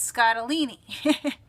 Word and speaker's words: Scottoline: I pronounced her books it's rhymes with fettuccine so it's scott aleni is her name so i learned that